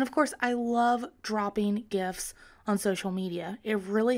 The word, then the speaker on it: GIF: bang i am definitely team gif not jeff and i love them